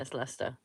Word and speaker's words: Leicester: Yeah, it's Lester. Wisters. Is it Reed? What? It's Lester. Lester. Yeah, we've got like you know that stupid English where we put in letters that don't need to be there.